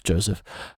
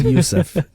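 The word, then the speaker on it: József: Joseph so is the English word, however, oh, so like Yusuf, Hungarian. okay. So, Yusuf, the accent on the O is that U.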